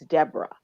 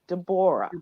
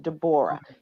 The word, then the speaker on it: Debora: in our community uh their name is d e b o r a and in most places it's Deborah but there are people who pronounce it dbor deor my my name is pronounced dbor and they are very